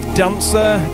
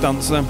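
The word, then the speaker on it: DNCR: This is his collaboration with Dancer, D-N-C-R. I'm assuming that's pronounced Dancer.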